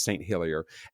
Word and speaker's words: St. Helier: Did you know that the capital of Jersey is St. Helier or probably Selier?" No, no, they speak English there. Never mind. It's St. Hillier.